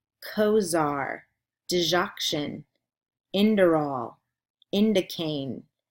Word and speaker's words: digoxin: email them to me here is week 9 pronunciation words clonidine cozaar digoxin endure all indicate nifedipine nitroglycerin propranolol riff mall